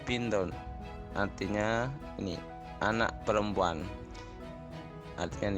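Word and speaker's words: بِنْتٌ: Ini bacanya bintun.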